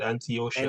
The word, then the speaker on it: Antiochia: Sorry, Antiochia. That's how they say that. I remember that. That's how they say it. Antiochia.